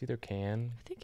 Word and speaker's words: Cannes: festival is it pronounced Khan it's either can I think it's can I think it's can't I don't know you're the movie guy aren't you supposed to know that don't pronounce the S I know that Janice